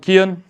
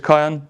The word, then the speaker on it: Kaiyan: Some people pronounce it Kian, others Kaiyan, but it's Kaiyan or Kai.